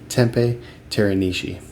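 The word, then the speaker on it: Teppei Teranishi: They formed in 1998 by vocalist guitarist uh Dustin Krenshu and the guitarist Teepe Terani. I looked this up too, how to pronounce his name. Tempe Terani.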